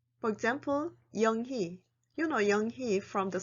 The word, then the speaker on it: 영희: When the vowel 의 is combined with the consonant h, 의 is also pronounced as 이. It usually happens in people's names. For example, 영희.